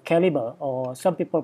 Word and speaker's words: Calibre: It's called Calibre, or some people pronounce it Calibre.